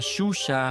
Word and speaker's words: Zhuzha: existe en el español, algunos traductores automáticos suelen transcribirla como zh, lo que hace que se pronuncie erróneamente sh, como en la palabra shampoo, aunque esa pronunciación corresponde a otra letra.